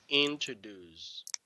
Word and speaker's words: introduce: this one is introduced introduce introduce entertainers yes they pronounce us Jews but it's a deuce introduce introduce okay so